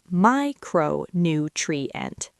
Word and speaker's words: micronutrient: The next word is micronutrient. 5 syllables. The primary stress falls on the first syllable, my. Say it slowly. Micronutrient. Micronutrient.